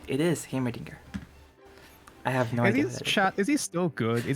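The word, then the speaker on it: Heimerdinger: my final answer you are correct it is hamerdinger i have no idea is he still good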